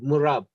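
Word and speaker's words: مُعْرَب: Ithna ashara and asharata are murab, declinable. Oh, this is a new terminology for me. I don't understand. Murab. Am I pronouncing it right? Murab. Yeah, that is correct.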